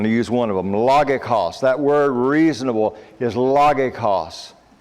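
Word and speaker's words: λογικός: Logikos. That word reasonable is logikos. Now the reason why I do that, if you pronounced it the way it looks to me, it would look like logikos.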